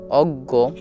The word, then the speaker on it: অজ্ঞ: বর্গীয় জ এ ইয় অজ্ঞ কেননা এটি গ এর মত উচ্চারিত হয় বয় হসই برگی جو